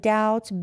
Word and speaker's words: doubt: H is silent and doubt B silent foreign again g is